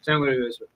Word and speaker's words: San Luis Obispo: If you just mumble it, but say kind of the right things, that's the right way to say it. Okay. San Luis Obispo.